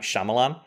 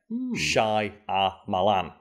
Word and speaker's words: Shyamalan: people always say m people say m night shamalan but his name is spelled s h y a m a l a n Shai a malan and that's how he pronounced it in early